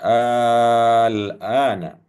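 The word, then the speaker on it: آلْآنَ: Kemudian di ayat selanjutnya Allah menjelaskan al-ana. Nah, ini juga, kalau membacanya harus panjang ya Bapak Ibu ya.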